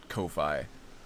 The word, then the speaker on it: Ko-fi: Is that how you pronounce that? It just looks like Ko-Fi.